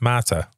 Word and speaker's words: mater: This comes from the Latin word mater, pronounced mater.